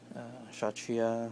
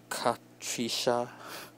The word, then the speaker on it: Kshatriya: So again, they can't use the name Kshatriya from Gundam Unicorn, so they call this Kshatriya, I guess that's how you pronounce it, or Kshatriya, because the K is supposed to be silent, is what I heard.